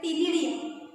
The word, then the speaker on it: ctenidia: Shows numerous gills called as अ टिनिडिया. उच्चार टी पासून करायचं आहे, स्पेलिंग लिहिताना सी पासून लिहायचं आहे, CTENIDIA.